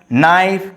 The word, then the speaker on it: knife: So in this case, K are understood or silent.